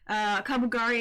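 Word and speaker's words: Kaburagi: Obviously, Kabugari is his name. I thought I was saying it wrong the whole time. I wasn't, which is great.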